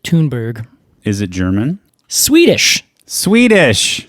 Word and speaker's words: Thunberg: pinus thundbergiai funberg yeah do you know thundberg I think actually they might pronounce it toonberg is it German Swedish